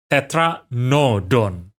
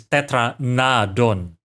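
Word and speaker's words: Tetranadon: these time I have been calling it Tetra noon I'm currently focusing on this seat right so maybe that's why I finally realized that the name is Tetra nadon which makes a lot of sense right because Rana means frog yeah tetradon and I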